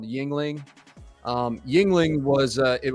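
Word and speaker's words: Yuengling: said you can't get Yingling in Michigan that sucks is that how you pronounce it Yingling Yingling yeah okay they don't have that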